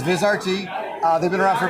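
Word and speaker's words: Vizrt: If you're not the only one that pronounces it, Vizert. Um, so it's okay. But it's Viz RT.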